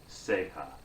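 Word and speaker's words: ceja: word capo and then the word in spanish is if we spell it it's c-e-j-a sega that sort of thing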